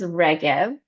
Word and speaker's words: Regev: So my name is and my last name is Reev and I'm the founder of the International Center for Collective Resilience.